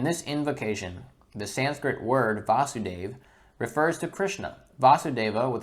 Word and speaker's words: Vasudeva: In this invocation, the Sanskrit word Vasudeva refers to Krishna. Vasudeva with a short a is Krishna's father. Vasudeva with a long a, also Vasudeva with, or Vasudeva with a long a is Krishna himself.